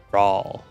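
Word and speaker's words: Rhalgr's Reach: I think I say it like Rawl, not roll.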